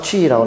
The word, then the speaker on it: qi: 자, 중국어로는 치라고 발음합니다. 기라는 소리죠. 즉, pronounced qi라고 나오죠.